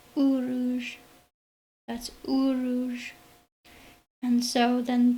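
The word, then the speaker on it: Uruz: It almost looks like an N, but it's actually pronounced Uruj.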